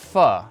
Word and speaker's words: phở: It's pronounced pho, not pho.